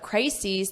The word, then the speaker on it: crises: And notice the pronunciation, because we have crisis is crises E So you have that long E on the plural crisis.